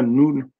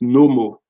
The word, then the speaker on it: Noun: Le Noun, je vous ai dit dans égyptien, si vous prenez vraiment les hiéroglyphes, ça ne se prononce pas Noun. Je l'ai déjà expliqué dans une vidéo, ça se prononce Nommo.